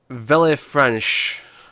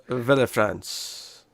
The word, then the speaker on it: Villefranche: Villefranche. I would assume the Vil is silent. The E is silent, so it would just be Vil.